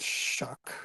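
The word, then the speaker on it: Shough: Shuck, not Show? I think it's Shuck.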